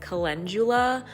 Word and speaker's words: calendula: It's calendula, but it was this moment that it was the first time I said it out loud to anyone, so I butchered the word, but you guys get it.